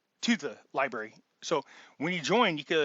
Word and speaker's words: LBRY: It's spelled LBRY. The links are in the description right now. But if they delete my channel, then you won't have access to the um, library.